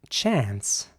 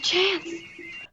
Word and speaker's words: chance: And in American English, it would be chance. Now, here's an example for you of the British English pronunciation. Should have took me while you had the chance. And here's an example of the American English pronunciation. There's a chance.